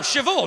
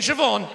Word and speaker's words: Siobhan: there's no v in siobhan where does the h go then it goes after the b obviously the are you talking about bh is pronounced v no it's not love